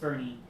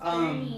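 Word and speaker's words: Boerne: It's pronounced Bernie. But it's pronounced Bernie.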